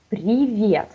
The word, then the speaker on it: привет: So we have привет, that everybody know, but try to talk привет, not привет, okay? Привет is really important stress in Russian, so be sure you pronounce it right, like since beginning.